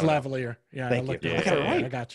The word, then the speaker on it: lavalier: It's like lavalier or something like that. It's lavalier.